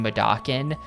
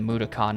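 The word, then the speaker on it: Mudokon: I The characters in the game kept saying Makan, but I can't make myself say that. That's wrong. The game is pronouncing it wrong.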